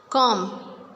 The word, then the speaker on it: comb: When B comes with M, like before B it is M, we will not pronounce B after M. We will just stop pronunciation till M. Lamb. Lamb means this is the lamb. Thumb, comb, bomb. B is silent in all of these words.